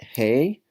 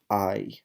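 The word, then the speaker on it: hay: I H a why the H is silent in Spanish that's why we don't say whole law we say hola so same thing we don't say hi we say aye aye aye means there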